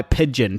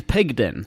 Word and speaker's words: Pigden: So everybody in the room is sitting watching the presenters, and up behind it is the big screen guy Pidgeon, Pidgen. His name is Pigden.